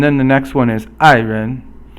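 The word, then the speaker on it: 爱人: And then the next one is 爱人. 爱人 is fourth tone, and then it's actually the ren is not second tone, but it's just a neutral tone.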